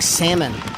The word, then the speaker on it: salmon: we'll say well woods it's like salmon you don't pronounce the L and that would be